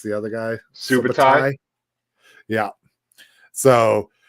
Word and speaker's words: Subutai: painting of Conan, Valeria, and how do you pronounce the other guy? Subutai.